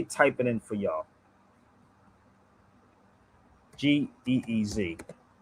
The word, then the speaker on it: Ge'ez: g e e z It's called It's pronounced Ge'ez.